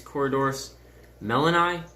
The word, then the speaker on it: Corydoras melloni: So they're doing their thing, and then coming here, you can see that's a, I believe it's Corydoras melloni.